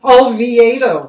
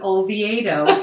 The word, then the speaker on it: Olviedo: Olviedo. Oh my gosh. But Olviedo. Okay. It's kind of like, I'll have a V8, please. Olviedo.